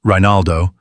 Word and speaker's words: Rinaldo: A year earlier, in September 1252, Cardinal Rinaldo, pronounced Rinaldo, the church official responsible for overseeing the poor ladies, had approved her rule on the Pope's behalf.